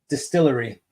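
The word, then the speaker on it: DSTLRY: books in this format distillery that's what Distillery yeah it's spelled dstl r y cool cover yeah so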